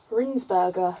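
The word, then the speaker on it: Rijnsburger: How do you pronounce that? Rinsburg.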